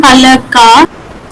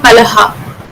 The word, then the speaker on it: pala: It's pala only, not palaha.